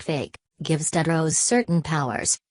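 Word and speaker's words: PHEIC: nearly 2 900 cases the fic pronounced like fake gives dead rose certain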